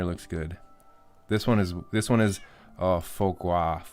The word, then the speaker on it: foie gras: This one is foie gras. How do you pronounce it?